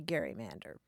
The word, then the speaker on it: gerrymander: And indeed, for a long time, they did say Gary-mander. Really? Yeah. And the pronunciation changed over time, I think, as the governor became less well known, and also the word itself was transmitted not by sound but in print.